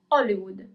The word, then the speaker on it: Hollywood: Hollywood in Italian is Hollywood. Okay? Hardware in Italian is hardware. We don't pronounce the letter H.